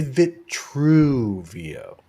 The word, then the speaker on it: Vitruveo: I like to say Vitruvio. Just don't say Kinda- Vitruveo. Accentuate the true in there because of the hidden meaning, But I don't know.